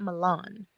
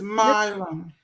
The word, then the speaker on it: Milam: Is it Milam or is it Milan? It's baby girl. It's Milam.